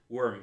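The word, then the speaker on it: Wyrm: that says worm Wiz worm spelled like dragon with a Y worm Wiz he just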